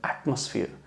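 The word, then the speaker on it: atmosphere: आप प्रोनाउंसिएशन देखें कि ये एटमॉस नहीं है, जो MOS आ रहा है यहाँ पे, ये ओ हम नहीं बोलते, हम एटमोसफियर, एटमोसफियर।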